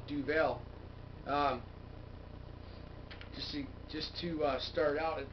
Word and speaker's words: Duvel: Duvel, or the Belgians pronounce it Duvel, but there's two pronunciations of it, and most people call it Duvel.